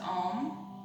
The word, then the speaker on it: Om: We're going to take a deep inhale, and remember there's 3 syllables to Om. A, U, M.